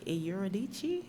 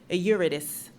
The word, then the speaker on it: Eurydice: And it's part of the opera called Orpheus and Eurydice? No, Eurydice. Eurydice. That's the English pronunciation. That's also the Greek pronunciation.